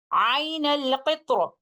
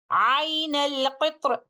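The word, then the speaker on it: عين القطر: And upon stopping on this word with tafkhim of letter Ra, we will recite it like this. Ain al-Qitra.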